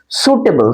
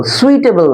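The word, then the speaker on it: suitable: এটা উচ্চারণটা কি, সুটেবল, সুইটেবল নয় কিন্তু, সুটেবল আর্টিকেলস, ঠিক আছে।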